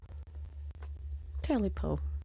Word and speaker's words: Tailypo: So how are you pronouncing it? Tailypo. Tailypo. I get Because that. it's spelled Tailypo. Okay. Tailypo. Tailypo. Tail. Like the cat's tail.